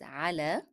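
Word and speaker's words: على: Both of them are ending in ye, but the first one is pronounced as a because it is preceded by a letter carrying fatha. However, the second one is pronounced as e because the preceding letter is carrying kasra.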